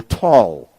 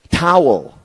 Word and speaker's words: Tal: to pronounce my name they call me T or tall makes me feel good but it's not my name towel um whereas when I